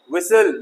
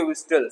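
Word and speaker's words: whistle: विसल ना के विस्टल, सीटी बजाना।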